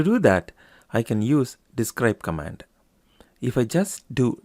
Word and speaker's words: DESC: So, to get information about the product table, we can run describe product, or we can use the abbreviation DESC, pronounced as describe still, followed by product.